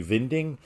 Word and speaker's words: Winding: Being that he's Danish, that middle word would be Vinding.